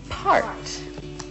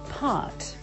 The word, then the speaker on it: part: to say this word, the word is part. So they would say it like this, pot. So I have to teach them how to push that R sound.